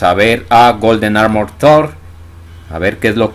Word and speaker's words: Thor: El siguiente juguete es Thor, a ver qué es lo que hace, o mejor dicho Thor, porque así se pronuncia la TH.